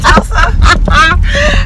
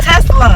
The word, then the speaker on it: Tesla: A Tulsa? That's all I'm calling an It's accent. a Tesla.